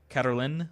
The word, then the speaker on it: Cataline: The final E is silent. Cataline, then? Okay.